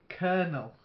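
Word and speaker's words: colonel: appeared many times before kernel silent L like the nut kernel okay then her not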